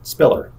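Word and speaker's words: SPILR: limited to five letters the departure identified with the letters s p i l R is pronounced Spiller the proposed procedures allow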